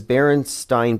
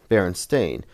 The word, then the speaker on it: Berenstain: I knew how to pronounce stain. So if it was spelled A-I-N, I would have known. Berenstain. The E-I-N threw me off because that's how it's not pronounced.